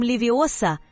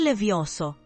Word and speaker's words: Leviosa: Гарри, смотри, произноси Wingardium Leviosa, а не Leviosa. Χάρη, κοίτα, λέγε Wingardium Leviosa, όχι Levioso.